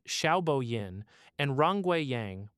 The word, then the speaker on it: Xiaobo Yin: Led by professors Xiaobo Yin, pronounced Xiaobo Yin, and Rongwei Yang, pronounced Rongwei Yang, working alongside Gang Tan at the University of Wyoming.